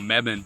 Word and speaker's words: Mebane: I know this is not a video on Mebane but a lot of people call Mebane and